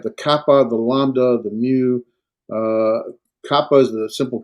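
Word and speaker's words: μῦ: The mu, it's not called an M, it's a mu, as in, how muse. I don't know, that's not right. And pronounced like an M, like mom, right? Mom.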